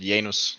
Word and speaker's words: Janus: I pronounce it Janus.